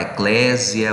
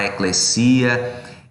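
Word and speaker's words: ekklesia: Eclésia ou e crescia Lembrando que o grego ele já perdeu a sua pronúncia original então você pode falar ecclésia você pode falar é crescia essa palavra ela significa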